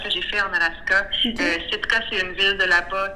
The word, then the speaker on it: Sitka: Donc, tu vas faire un nouvel album qui se nomme Sitka, si je le prononce bien.